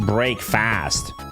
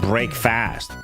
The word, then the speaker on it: breakfast: Yeah, but it's not pronounced break fast. It's not break fast. It's breakfast. First, like America. First, it's like a schwas and whatever.